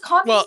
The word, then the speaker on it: Converse: Yeah, because Converse Well, is spelled Converse is the brand. CONVERSE, like And- universe, but Converse.